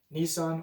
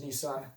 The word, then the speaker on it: Nisan: And so there are a number of words where there's debate about the proper pronunciation. We know the consonants, we're not sure what vowels would have been pronounced. So I will continue to use Nisan as my pronunciation. I will acknowledge there are other pronunciations out there.